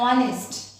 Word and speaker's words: honest: एक होता है honest. Honest. Here it starts with H, but H is silent.